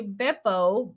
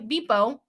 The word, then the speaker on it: Beppo: Julia says, for Buca de Beppo, Beppo is like beep. Okay, Beepo. It rhymes with the beginning of Pepto.